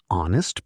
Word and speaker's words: honest: An honest person, because honest sounds like it starts with O.